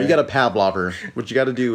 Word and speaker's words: Pavlov: know the classical conditioning i don't think that's how you pronounce it what is that pavlov what how do you say that actually what are you talking about pavlov there you go you got a pavlov